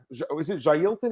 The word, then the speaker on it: Jailton: But again, Jay Elton is it Jailton or Jay?